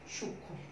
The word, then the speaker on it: সূক্ষ্ম: উচ্চারণ করছি না, উচ্চারণ ম উচ্চারণ করার বদলে আমরা ময়ের জায়গায় একটু আনুনাসিক করে উচ্চারণ করছি, ওটাই আমাদের ম ফল উচ্চারণের বৃদ্ধি।